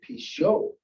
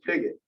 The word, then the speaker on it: Pigott: Things like, people would say things like, "Why don't you pronounce it Pichot?" Thanks for the suggestion, but it's Pigott.